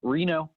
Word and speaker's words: Reno: say your last name just like the city and Nevada Reno Reno's there you know and tell us about who you are and what you do sure so Reno I work at Southwest